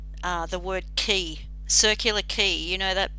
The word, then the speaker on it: Quay: though it's about q-a-y it's pronounced key it's pronounced key and i'm curious about